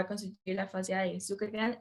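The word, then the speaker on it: Zuckerkandl: Es que dice Zuckerkand, pero hay una L al final, entonces no sé cómo podría pronunciarlo. Pues, Zuckerkand. trata de pronunciarla, si no, Zuckerkand es casi como el perro de Superman, ¿verdad?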